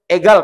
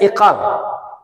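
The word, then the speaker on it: عقال: yang lilit bulat itu namanya egal kalau kita nyebutnya, aslinya iqal. Iqal ini kita bacanya egal. Kenapa orang Saudi baca qaf ini dengan ghain?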